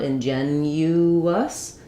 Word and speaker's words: ingenuous: rhythm error, is that we have not only this y hidden y sound ingenuous, but also a hidden w sound as we move from that rounded uh to the unrounded us. Inuus, we're going to have that w sound connecting them.